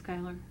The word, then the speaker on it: Schuyler: Would that have been pronounced Schuler or Schuyler? Could be Skylar. Schui. Yeah. Yeah, Skylar.